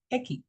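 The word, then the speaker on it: equis: in the Spanish language x the letter is pronounced eki so we don't say latini we that's not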